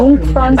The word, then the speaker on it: Jungfrau: ஆக்சுவலா இந்த ஜுங்ஃப்ரான்னு அவங்க சொல்றது இல்ல, அவங்க ஜுங்ஃப்ரான்னு சொல்ல மாட்டாங்க, யூங்ஃப்ரான்னு சொல்றாங்க. ஓகே, அதான் ப்ரொனவுன்ஸ் பண்ண போல, யூங்ஃப்ரா அப்படின்ட்டு. அதுவும் கரெக்டானு தெரியல.